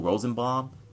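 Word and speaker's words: Rosenbaum: guy from Smallville what was his name Michael rosenbom that's how you pronounce his name so he would have been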